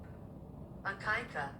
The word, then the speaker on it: Akaike: How do you pronounce it? Akaika.